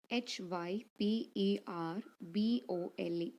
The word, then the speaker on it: hyperbole: you a drink no poetic device honor hyperbole hy p ER b o le hyperbole in another pronouncing hyperbole in our own area exaggerated expression